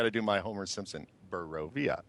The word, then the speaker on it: Barovia: Barovia. Barovia. Hold on, I got to do my Homer Simpson. Barovia. It's pronounced Barovia.